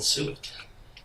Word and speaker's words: suet: Hermione, man, I'm gonna rub her down and sue it. Sue it. Hell, sue it. Sue it, man, it rhymes with do it.